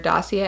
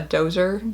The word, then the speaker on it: dossier: Actually, when I first read the word dossier, I called it a dozer because that's how it's spelled.